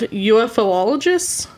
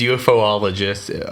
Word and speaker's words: ufologist: By October of 1983, so almost three years from the sighting, a small group of ufoolologists, that's how you say it, right? Or is it? It is ufologist.